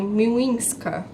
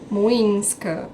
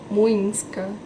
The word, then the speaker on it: Młyńska: rua que eu moro, que chama Miłęska. Młyńska. Desculpa, o Google me corrigiu. Młyńska.